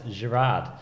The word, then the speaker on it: Girard: I you attack people today we have Alex Gerard welcome Alex thank you hi how are you